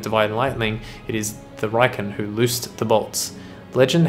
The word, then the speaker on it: Raiken: Raiken, pronounced Raiken.